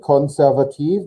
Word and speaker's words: konservativ: With the K, konservativ. There's no E on the end.